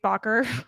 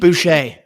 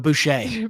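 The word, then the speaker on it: Baucher: Ber, I don't know what Ber is, but okay. Soft rubber. I'm probably just saying it wrong. And a double-jointed fold cheek. Bouche. But bush.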